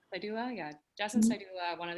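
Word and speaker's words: Syedullah: So Jasmine Saidula, I think that's how you pronounce her last name, right? Saidula, yeah.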